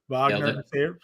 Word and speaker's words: Wagner: I definitely like um Wagner here vag Vagner Vagner say it correctly um we like John